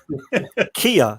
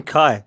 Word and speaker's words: Kai: does not help me kia is his name kai i'm sure all right there we